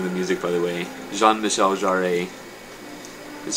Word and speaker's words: Jean-Michel Jarre: i i'm loving the music by the way jean-michel jarrett is spelled gene michelle jarrett but jean spelled pronounced jean-michel jarrett it's french but yes here's my reasoning first